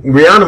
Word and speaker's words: Rihanna: Actually, yeah, it's either. She pronounces it Rihanna.